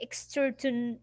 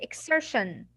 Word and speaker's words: exertion: Exertion. You will not say exertion. No, you'll say exertion. طيب, where is the sh? There's no sh.